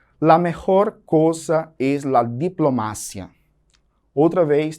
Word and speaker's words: diplomacia: La mejor cosa es la diplomacia. Outra vez, temos aí gritando o heterotônico. Diplomácia. No português, eu digo diplomacia.